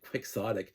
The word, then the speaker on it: quixotic: We put the X when we pronounce it quixotic, but we don't pronounce the X when we say Don Quixote.